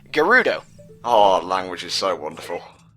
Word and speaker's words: Gerudo: Now, in Japanese, Geld is written and read as Gerudo. Change L to R because English is awesome, and you have the word Gerudo.